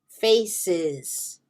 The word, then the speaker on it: faces: So ES is not always S. Sometimes it's S. Faces. The singular is face, no E. When it becomes plural, faces.